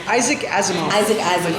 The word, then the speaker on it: Asimov: Is it Asimov? Asimov? Isaac Asimov.